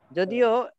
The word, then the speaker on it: ز: বাংলাতে হচ্ছে অনেকটা এইখানে লেখা অবশ্যই যা, যদিও এটাকে আমরা ঝা বলি না, ঝা বলি, আসলে এটার উচ্চারণ ঝা না।